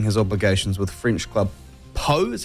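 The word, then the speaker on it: Pau: rugby after fulfilling his obligations with French Club PO is how he pronounced it po po you say po I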